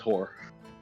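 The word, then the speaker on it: Hoar: Also, I would like to point out, there is a god in the main Forgotten Realms pantheon whose name is H-O-A-R, pronounced whore.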